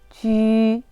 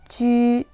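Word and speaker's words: ju: 읽을 때는 오히려 점땡유로 돌려줄게요. 주 아니고 뭐다? 쥐. 추에 아니고 뭐다? 취에. 수완 아니라 뭐다? 슈엔 되는 거예요. 전체 읽어볼게요. 쥐, 취에, 슈엔.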